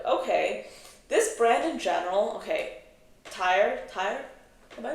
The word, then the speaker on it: Tauer: So next up we have this new launch from this brand called Tyre. It's spelled Tauer, and this fragrance will